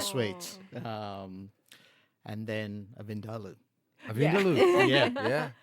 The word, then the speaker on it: vindaloo: Is that how you say it? Vindalu. Vindaloo. Yeah. Oh, we say it all the whole wrong way. You put the empasis on a completely different vindalu.